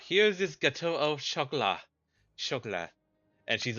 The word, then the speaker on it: gâteau au chocolat: It's obviously pronounced gâteau au chocolat. Yo, It was gonna be Gaddy at the beginning. It was like, oh, I'm expecting the EAU to just go like, AU.